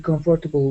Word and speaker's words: comfortable: Yeah, I know, but I am not exactly comfortable with someone knowing about my parents.